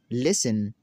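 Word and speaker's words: listen: तो नाज़रीन हमारा रूल नंबर 13 है, वो ये है, अगर किसी लफ्ज़ के आखिर में TEN हो तो T हमेशा साइलेंट रहेगा।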